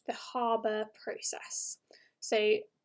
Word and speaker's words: Haber: is something called the harbour process so sometimes you'll hear this pronounced the haber process but british pronunciation is a harbor process so the harbour process